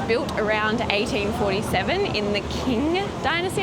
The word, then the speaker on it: Qing: around 1847 in the King Dynasty I'm not sure if that's how you pronounce it it's q i n g oh Ching Dynasty um and it